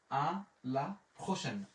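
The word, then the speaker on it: à la prochaine: আ লা পে আর ও প্রো, সে আশের উচ্চারণ হচ্ছে তালিব বসো, আ ই এর উচ্চারণ হচ্ছে একার, আর এখানে দন্তান্ন এর উচ্চারণ হবে আ লা প্রোশেন, আ লা প্রোশেন।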